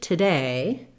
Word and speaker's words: today: stress pattern in that in the word today, the stress is on the day syllable. And we don't use an oo in today, we use an sound. So commonly people will see that letter O and say more of today rather than today.